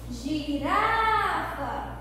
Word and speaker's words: girafa: Girafa, eu pronunciei o Rá com mais intensidade, olha só.